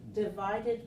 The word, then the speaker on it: divide: So here we have the word divide, again ending in E letter, but silent.